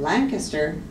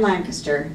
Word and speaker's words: Lancaster: Sam Lancaster, and you'll notice I'm saying his name Lancaster instead of Lancaster. His great-granddaughter told me he always pronounced it Lancaster.